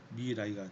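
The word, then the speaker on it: Mirai: 미래를 일본식으로 발음하면 미라이가 되는 겁니다.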